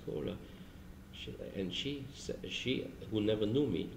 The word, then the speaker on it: Kowler: In French it's pronounced Kohler.